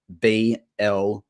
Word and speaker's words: blinder: But a blinder, which is sort of, and if you want to use the Aussie accent, you'll say BLINDA, even though you'd spell it BLINDER.